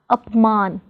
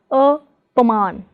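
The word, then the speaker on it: अपमान: In apman, the prefix is up, so we do not pronounce it as apaman, but as apman.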